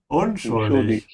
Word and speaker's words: unschuldig: Unschuldig. Emphasize the prefix un.